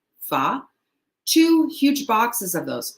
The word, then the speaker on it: pho: It's spelled pho, but it's pronounced fa.